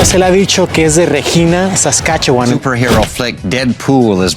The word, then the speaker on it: Regina: de Regina, Saskatchewan, y dijo un chiste que dice que rima con fan. No se dice en inglés Regina, se dice Regina para los que escuchen aquí en Canadá. En Regina, aquí en español es Regina, pero en inglés es Regina.